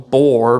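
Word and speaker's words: Bror: the I'm going to call them bore but it's spelled b r o r system of storage they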